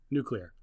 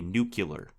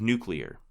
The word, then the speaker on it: nuclear: sometimes they will say nuclear okay instead of nuclear just say clear and put new in front of it nuclear yeah well it